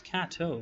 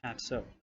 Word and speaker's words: Kato: Oh, it's Kato, not Katso. My bad.